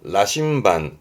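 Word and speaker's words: 羅針盤: 발음은 라심반, 라심반.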